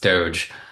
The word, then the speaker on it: DOGE: This Acronym Doge unfortunately we all know it's pronounced Doge um like I said I hate to say